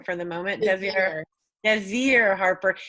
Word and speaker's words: Desir: Desir Harper. It's not showing me your whole name. Well, in Desire, it is spelled like desire, but it's Desir. Think of like a Z.